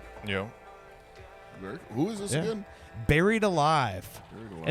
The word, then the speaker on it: Berried Alive: And it's spelled like buried, like Berried, like bury, like From accounting. not Barry from accounting, like Barry, like member berries, you know, South Park reference, but Like a smoothie.